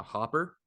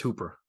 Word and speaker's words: Hooper: I pulled Tennessee's uh Hopper uh Austin Hopper Hooper however you want to say his name is the Hooper I think it's Hooper Austin Hooper yeah it's double O but it's Cooper um oh yeah so